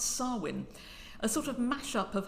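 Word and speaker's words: Samhain: November I will try and pronounce this correctly pronounce swin a sort of mashup of Harvest Festival and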